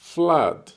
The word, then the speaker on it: flood: Если это уже наводнение прям, это flood. Flood. Слово исключение, потому что пишется double O, но произносится не как U, как обычно, а как А.